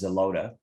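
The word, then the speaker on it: Xeloda: fluorousol um the drug is also known as zelota and that's spelled with an x um it's a oral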